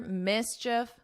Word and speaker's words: mischief: But here you don't hear that long E and it's just like if you were saying if mischief, mischief.